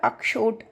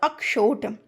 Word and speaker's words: अक्षोट: है, वो होता है अक्षोट। क्या होता है, अक्षोट। इसको प्रोनाउंस भी बहुत लोग गलत करते हैं, छा छा बोलते हैं, तो छा नहीं।